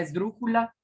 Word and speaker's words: esdrújula: Si fuera aguda, el acento lo tendría en las y se pronunciaría esdrújulas. Esdrújulas. Suena raro, suena feo. Ahora vamos a ver si la palabra es grave. Esdrújulas. Esdrújulas. Suena raro. Veamos ahora si es esdrújula.